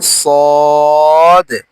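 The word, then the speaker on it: صاد: সয়াদ বলি এটা আসলে শুদ্ধ না শুদ্ধ হচ্ছে সদ দারা সদ দদ পড়ে অভ্যস্ত আমরা এই সদ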